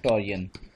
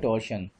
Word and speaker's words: torsion: basically वो कहलाता है टॉरियन, TORSION, टॉरियन या टॉर्शन, ये मुख्तलिफ इसकी प्रोनाउंसिएशंस हैं, तो टॉर्शन आमतौर पे कॉमन यूज़ होता है, तो ये जो